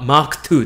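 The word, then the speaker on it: マーク2: お願いします発音はマーク 2 です一応あなたはこの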